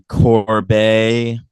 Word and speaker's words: Corbet: I think they're saying Corb is how you say his namey Corb the brutalist James